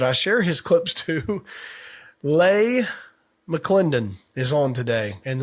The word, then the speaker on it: Leigh: Lay McClendon is on today, and Lay is more famously known as Lay. Looks like Lee, it is pronounced Lay.